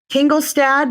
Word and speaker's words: Tingelstad: interesting people I've ever met as it's pronounced tingle stad is that right yes that's correct welcome